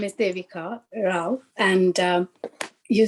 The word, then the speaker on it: Devika: Have I pronounced your name correctly, Devika? Would you like to correct me? Yes, my name is Devika Rao, and you said properly.